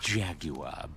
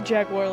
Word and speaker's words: jaguar: Eat, wander, relax, but no jaguar business. He's British. Ew. Why does he say jaguar like that? Jaguar. Why do you pronounce the U, weirdo?